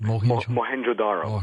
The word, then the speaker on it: Mohenjo-Daro: He has said that the melting bricks at this town you just mentioned, how do you pronounce that? Mohenjo-Daro.